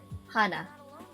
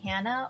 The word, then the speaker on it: Hannah: name my birth pronunciation it's pronounced as hana so if you say hana hana means one in korean hana is in japanese is flower spanish has the ah sound that they use and